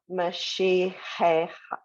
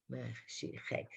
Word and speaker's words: Mashiach: Mashiach. Mashi. The H is silent. The H is silent. Hey. Right. Mashiach.